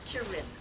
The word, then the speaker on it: Kirin: Kirin.